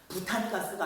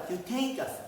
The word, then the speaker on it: 뷰테인가스: 이런 거 좀 발음을 좀 정확히 바뀌어가지고 부탄가스가 아니라 뷰테인가스, 메탄가스가 아니라 메테인가스 이런 거 바뀌었습니다.